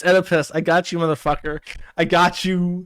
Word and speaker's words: Oedipus: say the word Oedipus Oedipus it's Oedipus you don't pronounce the O It's Oedipus I got you [